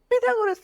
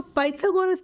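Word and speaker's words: Pythagoras: तो next topic is पिथागोरस theorem. इसको हम पाइथागोरस थ्योरम से भी प्रोनाउंसिएशन करते हैं। सबका अपना अपना वे ऑफ प्रोनाउंसिएशन है। पिथागोरस और पाइथागोरस बोथ आर करेक्ट।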